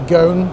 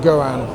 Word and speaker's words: Goan: I called it the goon because all the videos I've seen from the Indian market have called it more of a goon rather than the Goan. But apparently it's pronounced Goan.